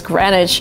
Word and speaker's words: Greenwich: So it's actually written Greenwich. You would kind of read it in this way, but the right way to say it is Greenwich.